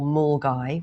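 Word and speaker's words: Milngavie: a little place called Mulgai which is spelled Milgavi but like a lot of towns in Scotland you pronounce it slightly differently.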